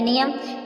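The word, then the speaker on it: know: miss जानना नो पढ नो नो मीस जानना इसमें एन से पहले जो के आया है वो साइलेंट है नाइफ नाइफ में चाकू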